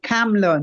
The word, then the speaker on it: Kamala: possibili however but okay words I'm saying say camela not like how no from called her came